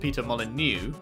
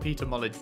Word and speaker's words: Molyneux: moly do isn't it Peter Molyneux or is it someone else that's very that's a very similar name I know someone in the games industry called Peter Molyneux not Peter knowledge to you oh yeah I guess